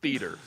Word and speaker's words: theater: No one else in the world says theater. But I think that we should. What's a word that rhymes with theater? Rhymes with a 2-syllable pronunciation of it.